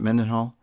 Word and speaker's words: Mendenhall: Charelle mendenhal and U is that how you pronounce it menen Hall I thought yeah you're correct yeah it's funny